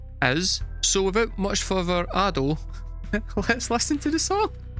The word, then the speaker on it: Ado: I've learned it's not Ado. This entire time I've been pronouncing Ado, it's actually Ado.